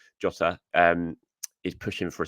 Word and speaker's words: Jota: Diego jot Diego jot I can never pronounce it right I always say Diego but it's not it's like Diego jota um is pushing for